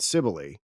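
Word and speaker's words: Cybele: We're going to be talking about, uh, Addis and Cibily here. In case you did not know, that's how you pronounce the name of this mother goddess that is going to preoccupy us primarily today.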